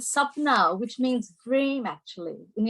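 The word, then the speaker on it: Sapna: and then spell it it's s-a-p-n-a and sub-now which means dream actually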